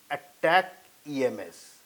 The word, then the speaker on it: ATACMS: cost about $1.5 million ATA CMS is pronounced as attack EMS these are fueled by